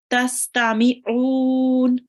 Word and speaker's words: تستمعون: Try to read the ayn from your throat. Tastami'un.